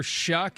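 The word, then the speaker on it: Shough: And then you got names like Tyler Shuck. It ain't spelled that way and it rhymes with something that that sounds like Shuck.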